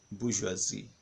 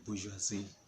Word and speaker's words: bourgeoisie: Can you pronounce that word? Bourgeoisie. Bourgeoisie. Bourgeoisie. No, Geo. Geoisie. The bourgeoisie.